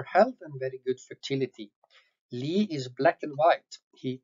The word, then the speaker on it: Lie: The last bull we want to highlight in the December run is 12241 Lie, which means hillside and not a lie. Norwegian pronunciation is Lie.